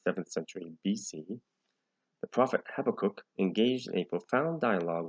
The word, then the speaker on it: Habakkuk: So I hope I'm pronouncing it right. That's how I pronounce it, Habakkuk.